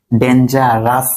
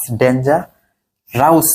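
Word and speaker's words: dangerous: ঠিক আছে মোট কথা শব্দের শেষে ও ইউএস থাকলে উচ্চারণ কি হবে আস ফেমাস ডেঞ্জারাস ভেরিয়াস আরেকটা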